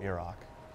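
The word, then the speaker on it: Miraak: Learn there the word that Mirak learned long ago. Iraq. And use That is- that knowledge. That is our official pronunciation.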